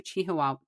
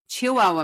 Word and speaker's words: Chihuahua: So, the store agreed and Paswell took the mannequin back to Chihuahua. Chihuahua Chihuahua. Good lord. I was I saw the H there and it felt like I needed to pronounce it. Chihuahua, Mexico.